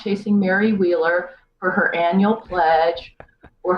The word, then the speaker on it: Wieler: my name is Mary wheeler sounds really like an easy name to spell it's the German Way WI e le are